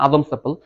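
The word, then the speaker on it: Adam's apple: এবং ষড়যন্ত্রে এই যে আমার গলার মধ্যে দেখা যাচ্ছে একটু উঁচু অংশ, এটা বলে অ্যাডামস অ্যাপল, ঠিক আছে। আদম সেপল শব্দটা উচ্চারণটা হচ্ছে আদম সেপল, কেন হয় এটা যদি পরে সুযোগ পাই হয়তো বলবো কোনোদিন, ঠিক আছে।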